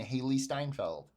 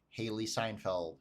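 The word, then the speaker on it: Hailee Steinfeld: And it wasn't until this movie that I have mispronounced her name the entire time that I've said it. I have called her Haley Seinfeld so much that I made myself believe it.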